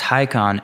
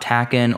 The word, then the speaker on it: Taycan: Turbo S first off it's pronounced high con and not takun or taken or anything like that